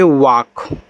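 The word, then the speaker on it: walk: मतलब होता है दौड़ना डब्ल्यू ए एल के देखो यहां ए के बाद एल तो दिया लेकिन एल के बाद के दे दिया इसकी तरह तो यहां भी आपका एल साइलेंट रहेगा और इसे पढ़ोगे आपको यहां पे वाक वाक का अर्थ होता है चलना या टहलना।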